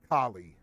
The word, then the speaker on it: Kali: they hate each other kie like the god like spelled that way like well I mean Hindu god kie she doesn't really spell it out but yes kie okay well it's for my notes sorry absolutely no no no I but yes that's her inflection her pronunciation it sounds exactly like the the God yes all right um